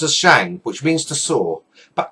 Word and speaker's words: Shang: Mandarin is pronounced as Shang which means to saw but actually in the Chinese pronunciation this would be pronounced as Ong rather than Ang in fact generally himself